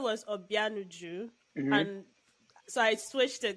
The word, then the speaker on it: Obianuju: Obianuju. No. I love that. That's a beautiful name. That's nice. See how you just pronounced it.